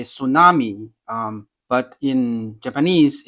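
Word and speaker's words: 津波: Same in English, we say tsunami, but in Japanese, it's called a tsunami, it's tsunami, right? Tsunami. So the tsu is, you can start with like cats, then cats, tsunami, sushi.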